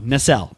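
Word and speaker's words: Nacelle: a year later, the NL company announced that they would be bringing the property back in both plastic. Are you mispronouncing Mattel? No. Nel. N A C E L L E.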